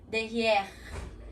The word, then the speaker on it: derrière: A mesma coisa com derrière. Derrière, que em francês tem aquele arranha aqui na garganta, fica derrière.